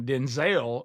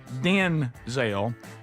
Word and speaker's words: Denzel: Denzel, he said, "But my mother, we had so many people in the family named named Denzel. She got tired of me not knowing if she was talking to me." She said, "From this day forward, you're Denzel." And she changed it. You you hear the difference the way the way she says it.